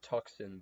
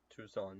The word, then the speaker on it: Tucson: I usually call it Tuxen, but I I think it's pronounced Tucson. Tucson.